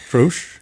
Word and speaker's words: troche: Troche? Something like that. Troche. Yeah, okay. Yeah, the common pronunciation is troche.